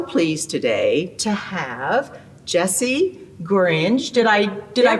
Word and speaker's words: Gorringe: And I am so pleased today to have Jessie Gorringe. Did I pronounce it right?